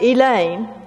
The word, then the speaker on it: Elaine: And it is pronounced Elaine, right?